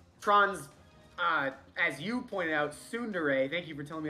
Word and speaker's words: tsundere: Tron's, as you pointed out, tsundere, thank you for telling me how to pronounce that, personality.